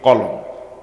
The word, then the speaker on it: কলম: মানুষ লেখে যেটা দিয়ে, এটাকে আপনারা সহজভাবে যেভাবে উচ্চারণ করেন ঠিক এরকম, কলম।